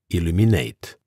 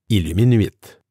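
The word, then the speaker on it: Illumin8: Au téléphone, ils entendront et puis écriront Illuminate avec les lettres A-T-E au lieu du chiffre 8. À l'écrit, vos clients étrangers ne sauront pas comment le prononcer. Un client français pourra penser que votre nom d'entreprise se prononce Illuminuit.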